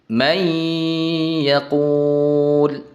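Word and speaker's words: من يقول: Bunyi nunnya tidak terdengar lagi. Yang terdengar hanyalah huruf berikutnya. Dileburkan ke huruf berikutnya. Cara membacanya may yaquul.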